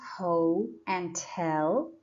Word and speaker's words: hotel: search the word hotel we have two syllables ho and tell and the stress is on the second syllable tell that's why apostrophe comes